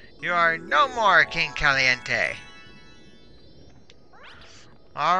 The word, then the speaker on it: caliente: and I think I know why it's called Caliente Caliente is Spanish for hot only it's spelled with a C not a K okay